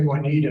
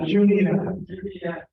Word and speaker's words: Juniata: I want to say Juanita, and I don't think that's quite, Juniata.